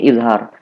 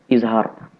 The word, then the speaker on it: izhar: Apabila ada fathatani atau dua fathah, setelahnya hamzah, maka dibaca izhar.